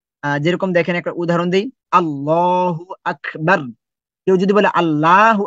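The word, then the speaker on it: الله: আল্লাহ আমাদের সৃষ্টিকর্তা আল্লাহ এই আল্লাহকে দুটা ভাবে উচ্চারণ করতে হয় আল্লাহ শব্দটাকে দুটা ভাবে উচ্চারণ করতে হয় কিন্তু আমরা জানিনা এটা একসময় আল্লাহ শব্দটা মোটা হবে একসময় আল্লাহ শব্দটা পাতলা হবে এখন কখন মোটা হবে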